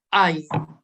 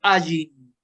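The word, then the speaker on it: עין: Y esta no se pronuncia. Esta y la Aleph son las dos que no se pronuncian. Se dice que se pronunciaban antiguamente, pero el sonido era tan difícil tanto de la Aleph como de la Ain que se ha perdido.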